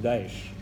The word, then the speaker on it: Daesh: Dont les initiales en arabe se prononcent Daesh.